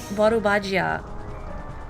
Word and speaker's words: Volvagia: I'm not really sure how you're supposed to pronounce it. I've always said Volvagia, but the kana is Borubagia. with an ah sound.